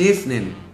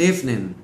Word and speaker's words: evening: ออก เสียง ว่า Good evening good evening นะ ครับ Good de นะ ครับ de ก็ ดู ที่ ตัว D นะ ครับ จะ ไป เชื่อม เสียง กับ ตัว E เป็น Good de นะ ครับ ส่วน ตัว